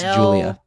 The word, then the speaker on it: Giulia: Giulia. Giulia? Yep, Giu. Bro, it's Julia. It's just Julia. It's just a different spelling.